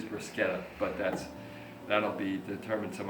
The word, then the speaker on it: bruschetta: I think the proper pronunciation is bruschetta, but that'll be determined some other time.